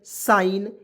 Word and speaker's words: sign: यहाँ देखिए आर ई एस आई जी एन, देखिए आई जी एन है, IGN है, IGN, तो इसमें आइन के रूप में जोड़ ना दीजिए, एकदम किसी भी शब्द में आइन जोड़ दीजिए। तो यहाँ देखिए RESIGN रिजाइन, SIGN साइन, इससे होता है स जोड़ देंगे और इसमें आइन जोड़ेंगे तो क्या हो जाएगा साइन।